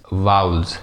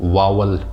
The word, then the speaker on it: vowels: हम इसको वावल पढ़ते हैं, जो कि मेरे हिसाब से गलत प्रोनाउंसिएशन है। आप इसको दो तरह से पढ़ सकते हैं, एक है वाउल, वाउल्स। दूसरी जो आसान है जिसको मैं प्रेफर करता हूँ वो है वाउल्स, वाउल्स।